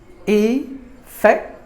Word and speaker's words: effective: Effective. There are 3 syllables in this word, and we have to stress the second syllable. Fact should be given more volume than the rest of the syllables.